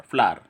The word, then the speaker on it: flour: फ्लावर है मतलब ना, इसको बोलेंगे फोनेटिक के हिसाब से बोलेंगे, फोनेटिक का प्रोनाउंसिएशन होगा इसका फ्लावर, FLOUR, फ्लावर।